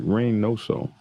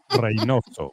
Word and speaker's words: Reynoso: Reynoso. Reynoso. Okay, not Reynos, dumbass. Reynoso. Reynoso, dumbass. You gotta roll the R, man.